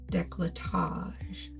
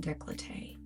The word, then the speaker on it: décolletage: I think it's décolletage, not décolleté. But you can correct me if I'm wrong, but I think I've looked that up before. Because I was surprised. I was like, oh, I've been saying it wrong.